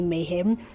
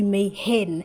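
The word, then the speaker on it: Mayhen: style kaiju named Lady Mayhem. Originally I said actually I said her name wrong because her name is Lady May Hen hen like a chicken but I always thought it was Mayhem for some reason.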